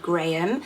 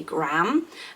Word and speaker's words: Graham: think in the US we would say in England Graham, and I think in America you say Graham. It's much more Graham. It's much more like a one-syllable sound.